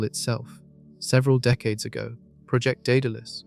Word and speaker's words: Daedalus: Several decades ago, Project Daedalus, pronounced d e h d u l u s, approached the problem with fusion.